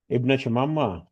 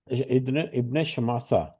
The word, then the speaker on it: ابن شماسہ: طویل حدیث ہے۔ حضرت ابن شمامہ، ابن شماسہ، ابن شماسہ، یہ صحیح تلفظ جو ہے وہ ہمیں عربی متن سے ملتا ہے، ابن شماسہ رضی اللہ